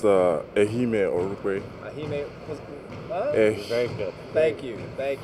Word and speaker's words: Ehimen Orukpe: It's pronounced Ehimen Orukpe.